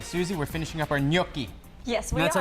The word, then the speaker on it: gnocchi: We're finishing up our gnocchi. Yes, we And that's are. how you pronounce it for us. Gnocchi.